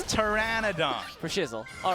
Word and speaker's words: Pteranodon: you say is it is it Pteranodon it's Pteranodon for shizzel all right sooon what am I